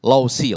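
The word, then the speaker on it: Laozi: Tapi mulai dengan filsuf Lausi lah. Tulisannya Lausu tapi bacanya Lausi.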